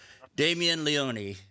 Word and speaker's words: Damien Leone: writer director of terrifier okay writer director terrified damien leone is that and i pronounced that right that is correct okay good